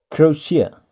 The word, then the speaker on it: Croatia: Bacanya adalah Croatia. Croatia. Croatia. Croatia. Croatia. Nah, itu kalau kita perlambat. Croatia. Ada sh-nya, bukan tia, tapi sh.